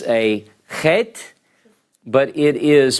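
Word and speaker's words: חית: Chet. It's a little bit harder to pronounce for English speakers. It's sort of, at some places, now I'll tell you, when native Israelis speak, it's less guttural by most.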